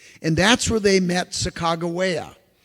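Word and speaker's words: Sacagawea: that's where they met sagaa sometimes they call it sakaja that's not how you pronounce it she had been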